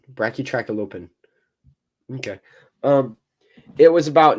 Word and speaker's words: Brachytrachelopan: spines down its neck the pronunciation in here bra tracky openen bracky track alopen okay um it was